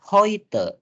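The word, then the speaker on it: heute: so teman-teman baca nya hoite kenapa aku bacanya hoite ingat baik-baik rumus membacanya EU dibaca oi ei dibaca i ya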